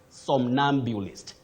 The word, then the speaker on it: somnambulist: This word is for a sleepwalker, and you say somnambulist. Hey. Somnambulist. You have to be very careful with the way you use your tongue and the lips. Somnambulist, not somnambulist. Somnambulist, a very tricky one.